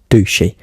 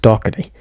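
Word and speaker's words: Docherty: Yes, I know it's not meant to be pronounced Douchy, and I know it's meant to be pronounced Doherty. I don't know why, but when I was recording it, I pronounced it as Douchy.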